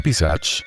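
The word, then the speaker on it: पिशाच: La palabra, pronunciada como Pisach, es un demonio en la mitología india.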